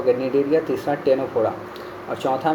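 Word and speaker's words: Ctenophora: देता हूं phylum टेनोफोरा टेनोफोरा टी ई एन ओ पी एच ओ आर ए और सी silent है ठीक है टेनोफोरा हो अब हम लोग इसको कैसे बोल सकते हैं?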